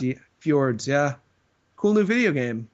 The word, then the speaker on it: Fjords: Is that how you pronounce F-J-O-R-D? Fjords, yeah. Fjords, yeah.